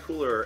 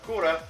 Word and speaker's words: Cooler: His name is Cooler, not Kura.